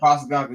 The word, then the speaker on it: Postecoglou: I don't know how to pronounce my man last name. Postecoglou. Yeah, Postecoglou. Yeah, so they are hiring